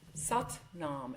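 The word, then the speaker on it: Sat Nam: traditions use different things But s nom. So when you breathe in, you hear in your head s. And when you exhale, nom. Satnam.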